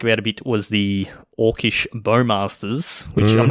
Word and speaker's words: Orcish Bowmasters: Andrea Mengucci's podcast, he has no idea how to say Orcish Bowmasters and continues to pronounce it Orcish Bowmasters, okay. Like Corey Baumeister, Orcish Bowmeisters.